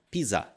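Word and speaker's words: ピザ: palavra que significa Pizza Ela é dita assim ó pisa PIS temos a letra com o som de Pi e a letra com som de z é derivado justamente de pizza agora a palavra que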